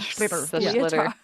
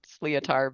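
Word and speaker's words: sliotar: The schlitter. Yep. It looks like when you try to pronounce it, that's what it looks like. Sleotar.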